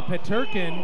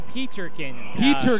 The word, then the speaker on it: Peterkin: and uh number 11 Michael petkin and that's actually peterkin another mistake we' made